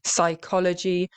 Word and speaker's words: psychology: So in English, the letter P is usually silent when it comes before an S. Okay, these Greek-derived words, psychology, psychiatrist.